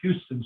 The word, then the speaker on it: Houston: That's down at the bottom of 2nd Avenue near Houston Street, which most people call it Houston Street, but they pronounce it Houston Street.